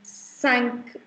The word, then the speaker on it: cinq: IN is called therefore it becomes cinq. K ka sound aayega last mein. Cinq.